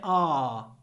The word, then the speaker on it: our: I usually pronounce it ah, like ah. It wants me to say, our goals are the same, but our approaches differ.